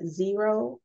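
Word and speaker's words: Xero: Two, you can use either QuickBooks or zero, and that's called that's spelled X-E-R-O.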